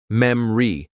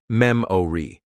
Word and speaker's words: memory: Memory is pronounced memri instead of memori.